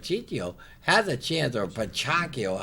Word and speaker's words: Pacquiao: has a chance or pako how say his name I forgot how do you say the name John Pacquiao Pacquiao Pacquiao yeah Pacquiao Pacquiao when you next weekend